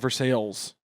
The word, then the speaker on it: Versailles: There's a town in Missouri called Versales, Versailles. They have just decided to pronounce it Versailles.